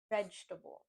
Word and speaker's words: vegetable: I've heard some people say vegetable and vegetable, making it four syllables, but we just want to say vegetable.